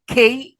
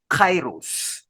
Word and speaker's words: kairos: right and some books say there are four is spelled k-a-i-r-o-s Kairos right rhetorical appeals what are they Vincent